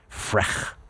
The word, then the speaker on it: Frech: Frech is how you pronounce that.